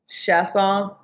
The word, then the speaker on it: Chiasson: me oh how is it supposed to be pronounced chasse aw okay okay okay I can't do that that's